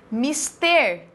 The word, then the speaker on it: Mister: Mister é uma oxítona.